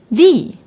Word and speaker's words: the: would have noticed that I pronounce the differently yes if the is before a noun that doesn't start with the Wawel we say the but if it is before a noun that starts with a vowel we say d so we say the vegetable by the animal now let's do some